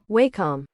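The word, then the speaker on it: Wacom: Is the drawing tablet company pronounced Wakam or Wackom? I don't know why I'm asking you when I could literally hear in fact one second how to pronounce Wackom. Wake seriously. Wakecom. Wakeom. Wakecom. Wakeom. That's more of a K.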